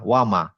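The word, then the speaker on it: وَمَا: যে এখানে আলিফ দিলাম। ওয়ামা তার মানে এই মাম মিমের সাথে আরেকটা মিম উচ্চারণ করতে যেটুকু সময় সেটুকু নিলাম। ওয়ামা কিন্তু আমি যদি বলি ওয়ামা তিন চারটা কাউন্ট হয়ে গেল। এত দেওয়া যাবে না।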